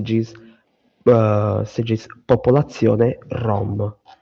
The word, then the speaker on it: Rom: Rom. Hã? Rom. Exato. Rom. Se escreve R O M.